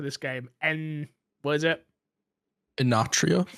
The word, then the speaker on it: Enotria: I always pronounce this names wrong for this game. What is it? Enotria. Enotria.